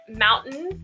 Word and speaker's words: mountain: In the examples that you gave, mountain and Atlanta, we don't pronounce the T at all. So when it comes after an N, we almost just drop the T completely.